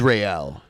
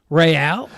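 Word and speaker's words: Raël: because they're over here his name is real real yeah it's spelled like r-a-e-l -r-a-e-l yeah that's not how Israel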